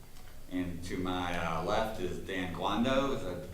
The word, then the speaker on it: Dan Guando: And to my left is Dan Guando. Is that pronouncing that correct?